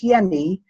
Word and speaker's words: Jenny: And Hans Jenny, J is actually pronounced as Y, he's Swiss.